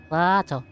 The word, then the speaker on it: Plateau: Plateau. Plateau. Plateau. Plato. Plato. Oh, yeah. Plato. I guess I was just calling it Plato because that's how you pronounce A on Spanish.